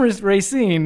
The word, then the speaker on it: Racine: I love how it's Racine. I've always called it Racine. Yeah, so. every time I say that, people around here give me crap. But if it's from Racine, then it's the right way to say it.